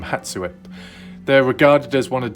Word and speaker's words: Hatssut: do with hat suit that's how you pronounce the name hatsuwip they're regarded as one